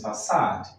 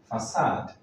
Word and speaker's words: facade: The next one is facade, facade.